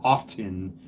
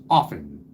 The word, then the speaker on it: often: That's like the nitwits and the dimwits that say the word often pronouncing the T. It's often.